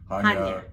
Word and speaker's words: Chania: Chania? Chania. Chania. Chania. They said the accent is on the ya. Yeah. Chania.